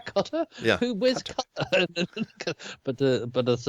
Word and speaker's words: Qatar: Cutter, Qatar?